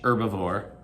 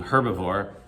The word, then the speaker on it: herbivore: eat plants you're herbivore some people don't pronounce the h herbivore i do herbivore meaning you eat herbs